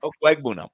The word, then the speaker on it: Okwuegbunam: Like the tree, oak? Oak? Bunam. Bunam. Okay. Yep. Okwuegbunam. Okay, there we go. You got it.